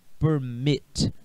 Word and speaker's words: permit: Então, gente, a pronúncia não está na sílaba per, está na sílaba mit. Permit.